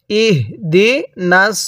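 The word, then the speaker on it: اهدنا: এরপরে ইহদি শব্দটা, ইহদি বিশেষ করে খেয়াল করবেন, এই হাটা উচ্চারণের সময় অনেকে আমরা এটাকে বড় হা উচ্চারণ করে ফেলি, অর্থাৎ এই হাটা উচ্চারণের সময় মুখ দিয়ে হালকা বাতাস বের করে ফেলি, ইহদি পড়ি। যদি ইহদি পড়ি তাহলে কিন্তু হাটা পরিপূর্ণ উচ্চারণ হলো না।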